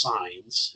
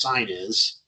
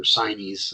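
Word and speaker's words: SINE: So there's two main types, and it's not pronounced signs. It's actually a weird pronunciation. It's Chinese, or Chinese, I've heard it pronounced.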